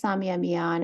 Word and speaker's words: Samia Mian: And please state your full name, pronounce it the way it's supposed to be pronounced, and your municipality. You said it very well. So my name is Samia Mian.